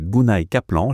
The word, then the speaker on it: Gunay Kaplan: Et aujourd'hui je suis assez honorée parce que j'ai une personne devant moi qui s'appelle Gunay Kaplan, j'ai bien prononcé ton prénom?